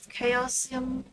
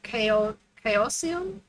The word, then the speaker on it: Chaosium: They call that event Call of Chaosium. It's like chaos and an IUM at the end.